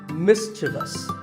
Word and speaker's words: mischievous: this is not mysterious there is no I after the V the last syllable is just thus so mischievous and then there are